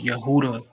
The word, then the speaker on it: Yehuda: Yehuda you heard it's Yehuda that's the that's the actual pronouncing pronunciation of the name yeah but it's just the J because you know you replace the Y with the J but well yeah there's